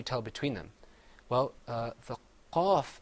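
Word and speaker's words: قاف: So say qaf, Qaf. kaf. Kaf. Another difference is that the qaf is pronounced full-mouthed.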